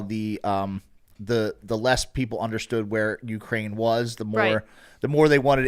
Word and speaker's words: Ukraine: It's like, it's pronounced Ukraine. Huh. I thought it was Ucrane.